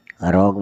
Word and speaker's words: rogue: ROGUE, रोग मतलब शैतान।